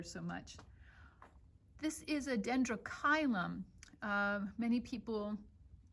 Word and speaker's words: Dendrochilum: Many people pronounce this dendrochilum, just so you know, it's dendrochilum. A lot of times, almost always in Latin, that CH in the middle of the word is a K and not a Ch, just so you know.